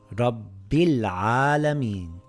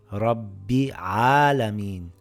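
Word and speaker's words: رب العالمين: For example, this reads rabbil alameen. I pronounce the lam because it's followed by a moon letter. I can't read it as rabbi alameen by skipping the lam.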